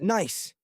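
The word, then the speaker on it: gneiss: The surface is primarily loose gravel scattered with ancient rocks of granite and something called Gnice, pronounced nice.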